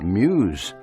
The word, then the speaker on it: Meuse: And remember, Muse is spelled M-E-U-S-E.